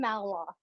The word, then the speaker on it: Malinois: Yeah, and pronounce that dog name for me. Belgian Malinois. Malinois.